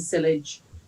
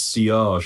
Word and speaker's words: sillage: It's sillage, apparently. Sillage. So it's French again.